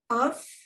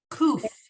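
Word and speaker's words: קוף: Cuff, Kuf. You see Kuf. that dot in the middle? Kuf. cuff. Right. I said it wrong. I won't repeat what you said. It's kuf.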